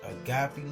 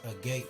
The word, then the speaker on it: agape: I pronounce it Agape Love, but it can be pronounced Agape Love, and that's AGAPE Love, LOVE.